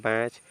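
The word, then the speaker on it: batch: इसके बाद लिखा है यहां से टी यानी सी एच के पहले टी है तो टी का उच्चारण नहीं होगा इसको पढ़ेंगे बैच बैच मींस होता है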